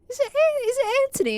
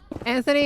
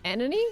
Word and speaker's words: Anthony: Anthony and Anthony are pronounced the same in the UK. No! No, find the H. Put it back. Don't lose the H. Some Brits would pronounce it Anony?